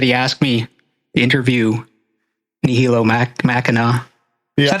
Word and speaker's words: Nihilo Machina: So it's funny that he asked me to interview Nihilo Machina.